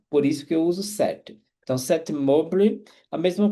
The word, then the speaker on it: cet: Só que você vai pronunciar esse T ligando o som aqui, então eu falo cet automobile.